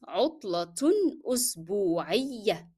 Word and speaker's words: عطلة أسبوعية: The first one is pronounced because it is connected. However, when I stop on the last word, I drop the sound of t and the sound of tanween with dhamma.